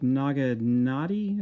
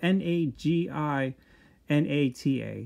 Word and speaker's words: naginata: And he also has this uh I think it's like naganati is how you pronounce it, n a g a n a t i or wait, no, n a g i n a t a, naginata.